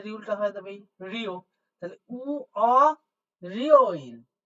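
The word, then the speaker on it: 월요일: ঋউল আছে তাহলে ঋউলটা হয়ে যাবে রিও তাহলে উ রিও ইল উ রি ও ইল উ রিও ও ইল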